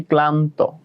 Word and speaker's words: ক্লান্ত: যেমন স্নান করিয়েছিলাম তোমাদের, মানে স্নান করাই নাই, স্নানের শব্দটা লিখিয়েছিলাম, উচ্চারণ লিখিয়েছিলাম, ওখানেও ভাঙা হয় নাই। সেম ভাবে যদি আসি ক্লান্ত, কয়ল আকার হবে, তোমরা এভাবে লিখবা না, কয়